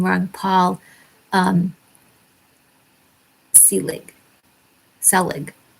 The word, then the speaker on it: Selig: always say his name ron paul um selig selig it's s-e-l-i-g select he's an older guy he